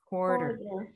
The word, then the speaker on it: quarter: say quarter chord quarter quarter yeah so it looks like quarter quack quack but it's not quarter quarter okay quarter does